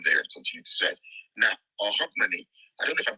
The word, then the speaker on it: Hogmanay: Now, Hogmanay, I don't know if I'm pronouncing it correctly. Yes, it is. Yeah, it's Hogmanay. Did I pronounce it correctly?